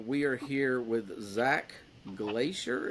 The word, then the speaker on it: Glaeser: are here with Zach Glacier is that how you say it Glacier yeah Glacier so my name is